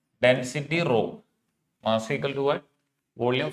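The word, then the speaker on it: rho: row it is called pronounced as row which stand for density volume is 4x3 R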